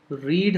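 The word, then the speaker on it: read: यहाँ पे रीड हो गया प्रेजेंट, तो आप उसको प्रोनाउंस कैसे करते हो? रीड। और जब आप वो पास्ट हो जाता है, पास्ट टेंस में, तो आप उसको कैसे बोलते हो? रेड। What did the post master do then?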